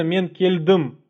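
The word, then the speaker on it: мен келдім: В казахском языке, сразу вам пометочку сделаем, в казахском языке практически в 95% случаев ударение падает именно на последний слог слова. То есть нельзя сказать там мен кельдым, а именно мен кельдым.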